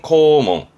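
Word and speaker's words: 校門: 발음은 코몽.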